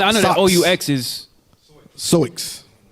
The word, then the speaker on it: Sioux: Soix. I know that OUX usually is silent. That X is silent, like soul or.